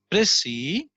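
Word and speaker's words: précis: the important points that is a pressie the pronunciation is press e or you may accentuate the other syllable the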